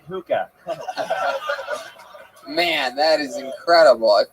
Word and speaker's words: hookah: Tony, it's pronounced hookah.